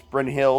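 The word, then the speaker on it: Brynhild: that would be great bryn hilda i don't and i know it's bryn hill but i like to pronounce it the way i've heard it all the years so um i don't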